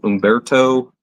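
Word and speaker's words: Humberto: And we've got, and I think when I was told on this name that you don't pronounce the H, so Umberto Martin.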